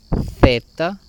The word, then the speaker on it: zeta: Y tenemos aquí estas consonantes que son compuestas, que son la zeta, que se pronuncia como una Z española, la xi, que sería